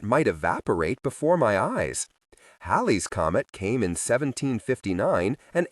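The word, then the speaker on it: Halley: Halle's comet came in 1759 and 1835. He pronounced the name Holly.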